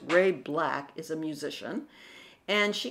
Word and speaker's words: Ray BLK: good for her now Ray BLK which is pronounced Ray black is a musician and she came in in